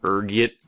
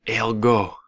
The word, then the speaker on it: ergot: There's a few different ways you can pronounce it depending on your social standing, ranging from ergot to elgo. Being the disheveled pauper I am, I prefer ergot.